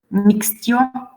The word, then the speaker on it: mixtio: But here we have S before T, so bestia, mixtio. So if there is S, T, or X before T, then it sounds normally like T.